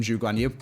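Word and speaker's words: Zhou Guanyu: stupid English people but that's not how he pronounces their names obviously you should call them Jug on you so then we were saying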